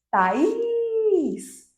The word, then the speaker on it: Thaís: Observem que eu segurei muito o is. Is. Essa sílaba que a gente segura mais tempo é a sílaba tônica.